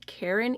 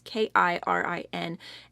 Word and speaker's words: Kirin: These earrings that I have on are the Karen earrings. I'm not sure if I'm pronouncing that right. It's Kirin, and they retail for $49.